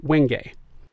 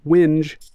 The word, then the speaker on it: wenge: Its name is pronounced Wenge. If you call this wood Wenge, woodworkers will cringe.